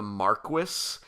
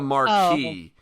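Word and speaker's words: Marquis: final fantasy 12 when they kept calling him the Marquess and I'm like bro that's the marquee yeah it's the marquee um I will say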